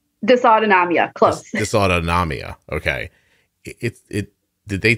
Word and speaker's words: dysautonomia: i'm gonna make sure i'm saying it correctly dysautotamia is that right dysautonomia this autonomia okay did they tell you you